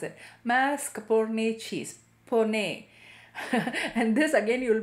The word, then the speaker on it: mascarpone: capone cheese i have to learn how to pronounce it mascarpone and this again you will be adding three